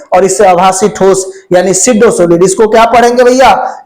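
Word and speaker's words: pseudo solid: यानी अतिशीति द्रव को बोलते हैं सुपर कूल्ड लिक्विड और इसे आभासी ठोस यानी सिडो सॉलिड। इसको क्या पढ़ेंगे भैया? इसको सिडोसोलिड पढ़ा जाता है। पी साइलेंट होता है।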